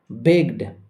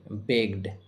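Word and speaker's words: begged: গ sound a sound বেগড গ sound এর পরে ইডি রয়েছে আর তাই ইডি এর উচ্চারণ শুধু ড এর মত হবে শুধু ড এর মত হবে বেগড ট্যাগড গ সাউন্ড এর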